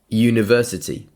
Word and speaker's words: university: University has a consonant sound you.